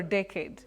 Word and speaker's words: decade: Decade or decade? Oh, you can say decade. That is the standard pronunciation.